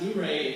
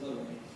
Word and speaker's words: Luray: It's pronounced Luray if you're from there. If you're just visiting there, you probably pronounce it Luray.